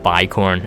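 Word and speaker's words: Bicorn: interesting karmic nova says be corn is pronounced by corn okay so it's by corn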